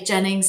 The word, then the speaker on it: Gennings: Um, so Jennings, it is Jennings spelled with a G, not a J.